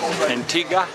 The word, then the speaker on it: Antigua: so we're in downtown St John's Antigua here Antiga kect pronunciation lot into the local cheers to have